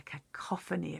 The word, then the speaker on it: cacophony: Cac-or, and then the f sound is a ph. Cacoph and e. A cacophony of sound.